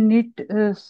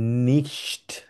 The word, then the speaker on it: nicht: প্রোনাউন্সিয়েশনটার সমস্যা হচ্ছে ভাইয়া। এটা হচ্ছে ইস বিন নিশট।